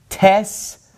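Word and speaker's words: ταῖς: And so this is going to be pronounced tes dodeka philes tes enti diaspora cherin. All right, so all of those alpha iota diphthongs are pronounced like epsilons, okay?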